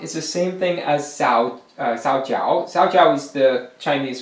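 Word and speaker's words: 皂角: Jogak is the same thing as Sao Jiao. Sao Jiao is the Chinese pronunciation, and Jogak is the Korean.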